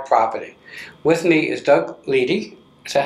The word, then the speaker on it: Leedy: With me is Doug Leedy. Is that how you pronounce it?